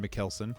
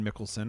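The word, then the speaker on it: Mikkelsen: German doctor played by Mad Mckelson or Mad Mickelson. I've heard I've heard different ways to say his name. It's Mads regardless. and he's amazing and I love him as an actor.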